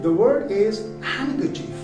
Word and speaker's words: handkerchief: But the word is not handkerchief, the word is handkerchief. Handkerchief. Because here the letter D comes after letter N.